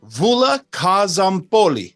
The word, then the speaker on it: Stavroula Kozompoli: Stavroula Kozompoli.